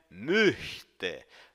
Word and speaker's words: möchte: Preste atenção principalmente à pronúncia da palavrinha möchte. Note que o CH é um chiado lá no fundo da garganta.